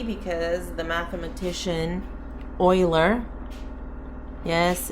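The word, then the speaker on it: Euler: e because the mathematician Oiler yes it's buil it's spelled like this but it's pronounced Oiler he was the one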